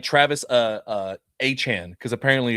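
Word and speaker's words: Achane: You need to be like, hey, by the way, guys, it's actually Achan. Like, and A-Chain is what Devon is trying to be called.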